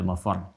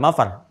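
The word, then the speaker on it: مفرّ: Ya, ainal mafar. Ada tasdidnya. Makanya bacanya juga bukan mafar. Awas. Ya, bukan mafar.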